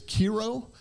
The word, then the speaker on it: Kiro: Incidentally, this dog's name was Kiro, which rhymes with hero.